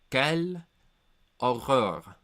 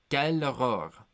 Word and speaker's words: Quelle horreur: I think this phrase in French would be pronounced "Quelle horreur." Quelle horreur. That's how I would pronounce it.